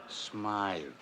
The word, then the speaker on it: Smythe: Hammer, I just got word that Smith Jewelers was held up again. That's Smythe. I just got word that Smythe Jewelers was held up again.